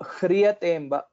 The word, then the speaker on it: ह्रियतेऽम्ब: The pronunciation of hakara should come from the uras or from near the heart. So hriyatemba, hri, and also there is a rakara which is basically a sanyukta akshara, and hence the pronunciation will be dhrutapado hriyatemba.